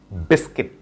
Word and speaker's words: biscuit: আমরা এই ওয়ার্ডটির pronunciation করে থাকি বিস্কুট. So biscuit is wrong. Right pronunciation হচ্ছে biscuit, biscuit, biscuit, biscuit, biscuit.